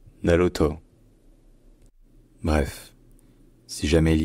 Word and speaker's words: Naruto: plutôt sur un o donc finalement ça se prononce Naruto Naruto Naruto bref si jamais il y a d'autres mots